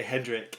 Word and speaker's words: Hendrik: Like Jimi Hendrix, but Hendrik. That's correct. Yeah, like the funny thing is everybody calls me Hendrix, like that is not from Germany.